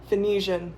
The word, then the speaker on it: Phoenician: Next up, I watched the Phoenician Scheme.